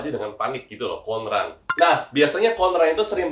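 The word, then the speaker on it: 混乱: Cara bacanya itu adalah konran ya.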